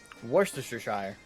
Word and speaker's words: Worcestershire: Worcestershire. Time for some bagpipes. Hell yeah. What it says, that's because in England there are a lot of places with Shire in their name, but it's pronounced Sheer.